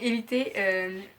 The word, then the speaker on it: Élite: somme qu'ils évitent mais comme ça ne sert espagnol je me dois le prononcer à l'espagnol donc évitez qui est une série